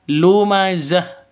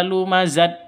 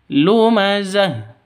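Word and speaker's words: لُمَزَةٍ: Makanya dibaca lumazah bukan dibaca lumazat tapi lumazah seperti itu.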